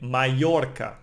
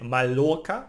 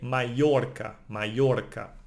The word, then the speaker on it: Mallorca: That's interesting because the double L, it's actually a letter of the alphabet, no? It's no, A, no? And it's pronounced like Y, no? Like in Mallorca, no? We don't say Mallorca, we say Mallorca, no?